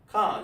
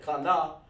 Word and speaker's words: Khan: You know, like Khan. That's just one sound. One band, one sound. Khan. You don't say Kana, it's Khan.